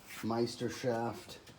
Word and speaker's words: Meisterschaft: It's Meistershaft. I finally been able to pronounce it correctly.